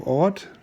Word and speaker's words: Orth: And the one over here to the left is called the harbor of Ort, not Orth. In Germany we don't pronounce, or in German you don't pronounce the TH, so it's Ort.